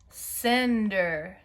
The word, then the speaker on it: cinder: All right, number 5 is cinder. Cinder. Okay, let's check it together.